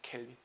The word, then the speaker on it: 켈빈: 켈빈이라고 읽는다고. 켈빈.